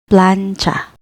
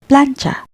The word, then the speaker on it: plantsa: First syllable plan consists of consonant cluster PL plus vowel A plus consonant N, and the second syllable cha, which is a single consonant cluster with TS plus vowel A. Read it as plancha, plancha.